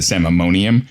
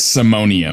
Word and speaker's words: simonium: I think I said samimonium, but it's simonium.